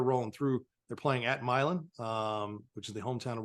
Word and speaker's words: Milan: It's not Milan, it's Milan. Milan, much like Nevada, not Nevada.